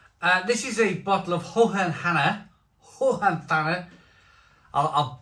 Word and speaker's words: Hohenthanner: This is a bottle of Hohenthanner. I'll pronounce one of my German brewery names correctly one day. And this is it's Hohenthanner Schlossbrauerei.